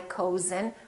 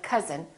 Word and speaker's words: cousin: but number but also sometimes this sound is spelled with oh you as in words like cousin my cousin we don't say my cozen we say my cousin or country and once